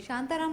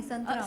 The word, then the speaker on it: संतराम: शांताराम नहीं है, संतराम।